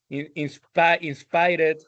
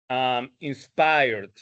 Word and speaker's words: inspired: In the case of pronunciation, uh, be careful with the past, with the pronunciation of the past, because this is the problem that I have been talking about all this time, of reading them like it was Spanish, or like that, like linked, played, no, select está bien, inspired. All of those words are bad pronounced. It should have been linked, played, inspired.